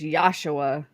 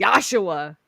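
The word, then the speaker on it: Yeshua: It's Yosua. Yeah. When they say don't say his name in vain, they don't mean Jesus. They mean Yosua.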